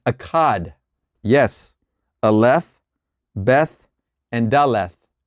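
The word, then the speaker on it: אחד: It's spelt in a way that you would almost hear the word Zion. It's Akkad.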